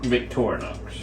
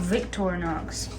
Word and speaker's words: Victorinox: Victorinox. Oh, Victorinox.